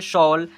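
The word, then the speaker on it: shawl: शॉल यहां पर एल ए डब्ल्यू लौ यहां पर एस ए डब्ल्यू शौ ऐसे पढ़ेंगे।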